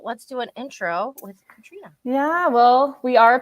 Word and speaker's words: Katrine: this time to say it is pronounced Katrina, so just pretend there's an A at the end there.